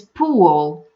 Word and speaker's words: pool: It's not pool, guys. It's pool. It's a very light W sound before the dark L.